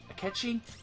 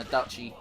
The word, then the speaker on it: Akechi: multiple I kept cheated akechi yeah I have to double check myself mentally every time I say his name so I've been saying a Duchy sometimes because I'm a [